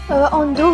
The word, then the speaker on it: Ando: Ando, oui, c'est comme ça que ça se prononce.